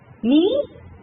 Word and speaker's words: knee: Hour, H is silent. Knee, K is silent.